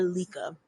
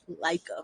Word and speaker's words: Laika: Laika or Lika? Laika. Let us know in the comments, because let me tell you, it's Laika.